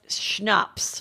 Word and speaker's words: Schnapp: his name is drinks it is schnapps isn't that how you spell schnapps the elk like the drink okay like peach like a